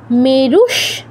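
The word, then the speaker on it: মেরুঃ: পাওয়া চাসমি পাওয়া চাসমি মেরুস বিসর্গের উপর তালব্যস থাকে আমরা বিসর্গ উচ্চারণটা তালব্য হসন্ত করবো মেরু শিখরিনামহ মেরু শিখরি তো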